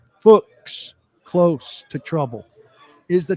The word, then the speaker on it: Fuchs: Scott Fuchs, rhymes or pronounced like books. Fuchs, close to trouble, is the Titans' assistant offensive line coach, handpicked by Bill Callahan, who likes this guy.